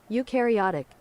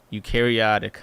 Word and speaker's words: eukaryotic: Eukaryotic. Eukaryotic.